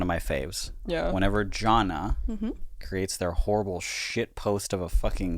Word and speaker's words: Jonna: reaching conservatives um Jonna is how you say it uh if John is